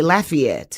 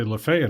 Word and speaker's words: Lafayette: If you're from that area, you'll say Lafayette. Yeah. When I lived up at in Oxford, they say Lefay up there.